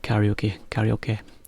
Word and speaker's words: karaoke: So it's slightly different pronunciation, but it's the same thing, same word, just we kind of say karaoke. So it's got a bit lost to the Japanese intonation. It's karaoke.